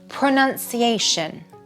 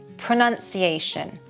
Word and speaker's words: pronunciation: Number two, pronunciation. Pronunciation.